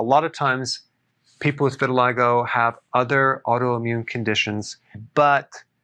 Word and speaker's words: vitiligo: want to talk about vitiligo vitiligo that's how it's pronounced what is it it's